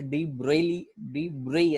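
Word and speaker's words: de Broglie: अब डी ब्रोगली, वैसे डी ब्रेई ऐसा कुछ नाम है उसका। ओके कुछ यहाँ ग ब जैसा कुछ साइलेंट है, लेकिन उसको छोड़ देते हम।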